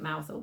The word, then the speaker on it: Mousehole: Yes, so it's the Mousehole Cat, but we call it Mousehole because of the town. And that's how they pronounce it. Yeah. In Cornwall.